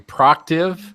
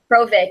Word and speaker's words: Prociv: I have heard people mispronounce your name, Prociv and Provis. Yeah, it's Provic. Yep. And I'm like, you're like the Brett Favre of the weather world. You spell it one way and it's pronounced another way.